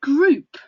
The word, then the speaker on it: Groop: It's called Groop. In a really annoying way, it's called Groop. That's spelled Groop.